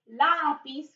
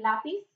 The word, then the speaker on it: lápiz: We have el lápiz, con acento en la A, el lápiz.